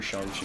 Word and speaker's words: Shang-Chi: I've heard people say Shang-Chi and Shang-Chi, and I'm pretty sure Shang-Chi is like the correct one.